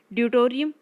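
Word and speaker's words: deuterium: दूसरा है ड्यूटोरियम, right, या ड्यूटेरियम, जो भी आप इसे प्रोनाउंस करना चाहें।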